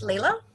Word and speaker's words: Leila: thanks Lee um yes so my name is Lila and it is mispronounced all the time I lurked and bound